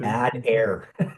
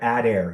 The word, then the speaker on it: Adair: Adair. It's funny how it's spelled. I'm not sure if he's changed it, but add air. Yeah, George. Add air.